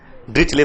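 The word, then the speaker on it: Dirichlet: ड्रिकले function और ड्रिचले function, but you pronounce ड्रिचले function for यू.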